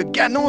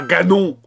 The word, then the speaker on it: Ganon: Mais l'ennemi s'appelle Ganon (prononcé à l'anglaise), pas Ganon !